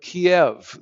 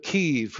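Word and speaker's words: Kyiv: It's called The Sleeping Protesters of Kiev, the way I used to say it. The Sleeping Protesters of Kiev, it's how it would be pronounced now.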